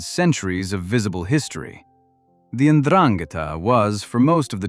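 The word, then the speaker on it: Ndrangheta: The Andrangata, pronounced Unrangata, was not born through some grand criminal ambition.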